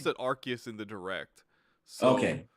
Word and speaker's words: Arceus: but i don't know i always thought it was rcs2 but i think i heard them they pronounce it arceus in the directs so yeah and i